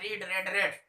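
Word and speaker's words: read: तो रीड का तीनों फॉर्म एक ही होता है, रीड रेड रेड।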